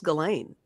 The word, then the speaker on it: Ghislaine: I think it's Ghislaine.